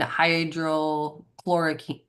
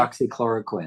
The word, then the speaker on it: hydroxychloroquine: Grace said, definitely ivermectin and hydrochloroquine. Hydrochloroquine. Is that how you say it? Hydroxychloroquine. Hydroxy. Okay, I couldn't remember.